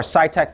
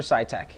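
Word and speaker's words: SITEK: and I filmed this video source inspection for SciTech Process Solutions. Again, our company is spelled S-I-T-E-K, Process Solutions, and you can find us on the web by searching for SciTech.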